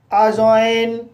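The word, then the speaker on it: adjoin: जैसे अजॉइन, adjust, अजवर, adjective, अजज। तो guys in सभी वर्ड्स में डी के बाद जे आया है, इसलिए डी साइलेंट है।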